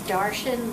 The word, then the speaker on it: Darshan: His first name is Darshan, like Martian with a D.